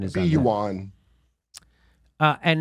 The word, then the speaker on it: yuan: is that how you say it no uh juan juan you saint juan i think it's juan yeah juan and not u.s dollars see how they see what the pronunciation is yuan uh and not us dollars for selling oil